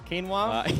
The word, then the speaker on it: quinoa: What is the correct way to pronounce quinoa? It's quinoa. Quinoa. Yeah. Quinoa. Yeah. But like everybody reads it as like quinoa if you haven't heard it.